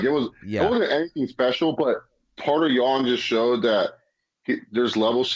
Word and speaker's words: Piotr Jan: I have to say, I now know how to pronounce his name, Piotr Jan. You just say Peter, but you just I was saying Peter the whole time, but Piotr Jan.